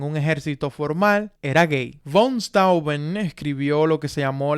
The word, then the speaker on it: von Steuben: el barón von Steuben, o von Steuben, como se pronuncia, el alemán es un idioma bastante difícil, quien era un general